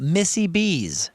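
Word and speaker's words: Missie B's: Over in Kansas City, Missouri, we're talking about Missy B's. Missy B's. Now, spell that.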